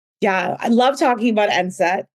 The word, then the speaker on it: enset: So, speaking about food and things they need, um we're going to talk about something called enset.